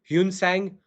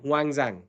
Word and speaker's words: Xuanzang: Xuanzang Xuanzang Huangzang. They call him Xuanzang. Xuanzang. Xuan zang. It's all because of the different pronunciations, right?